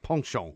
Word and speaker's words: penchant: really because he you know he had this penchant for and a pension as you call it is actually pronounced pongshong yeah so it's a pongshong in a ponceon